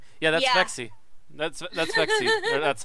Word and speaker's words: Vexi: isn't that vexi or vexi I don't know v e XI yeah that's vexi that's that's vexi that's how I've been pronounce that's one of Matt's followers that's one